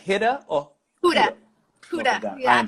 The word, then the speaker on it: Huda: Huda.